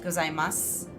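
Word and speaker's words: ございます: Gozaimasu is probably one that they gloss over, like, the U, because it's usually not pronounced, from what I've heard, gozaimasu. It's usually pronounced gozaimasu.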